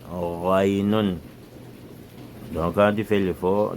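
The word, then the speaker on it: غين: Ray, on ne dit pas ngaynun, ray, raynun.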